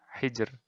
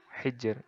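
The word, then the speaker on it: حجر: Nah, ro-nya di akhir ini. Bacanya tipis. Hijr. Sihr. Nah, sihr. Hijr. Nah, kayak gitu. Jadi tipis saja. Tidak ditebalkan.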